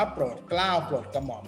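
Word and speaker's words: โปรดเกล้าโปรดกระหม่อม: มัน ย่อ มา จาก คำ ว่า โปรด เกล้า โปรด กระหม่อม ก็ ต้อง อ่าน เต็ม มาก โปรด เกล้า โปรด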